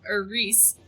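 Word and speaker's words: Rhys: It appears, based on reports gathered from rural mages, that Rus had originally intended to be at the Reese, that's how it's pronounced, but the former Templar Evangeline persuaded him not to attend.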